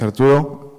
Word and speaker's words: Arturo: I just hope I pronounce it correct. It's Arturo, advocate from Graph AdvocatesDAO. Did I say it correct? Okay. Okay. Right. Hi everyone, my name is Arturo.